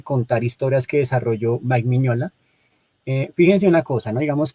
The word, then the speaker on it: Mignola: pues a veces, digamos, lo nombran como Mignola, pero realmente, pues muchos, y sobre todo, pues en el lenguaje estadounidense le pronuncian Miñola, porque la G y la N, pues son como la contracción de la N.